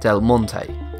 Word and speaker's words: Del Monte: When it comes to pronouncing delmon, a great number of people split it into two syllables instead of three. This changes the pronunciation from delmonte to delmont. Notice the difference. Once again, the correct pronunciation is delmon.